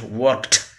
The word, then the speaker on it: worked: ed to it, like worked. And it is pronounced as worked, not worked, duh. It's t. Ed is written, but t is pronounced worked.